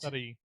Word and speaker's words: Sarahi: Yeah, you're the H is like silent. Sarahi.